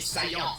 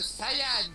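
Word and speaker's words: Saiyan: chose que tu perdras prince des saillants ça se prononce sayyan je m'en fous je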